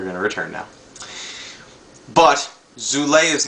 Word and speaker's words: Zulay: Well, anyway, the love interest Zulay, whereas she's pronounced in the movie Zulay because it rhymes with July, becomes the would-be love